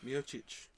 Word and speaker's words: Miocic: We saying Cormier and Miocic. how do you pronounce his name?